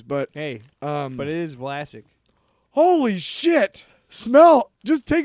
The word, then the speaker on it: Vlasic: Our pickleballs are the winning combination of that classic Vlasic crunch and bold flavor. Good job, marketing team. Classic rhymes with Vlasic.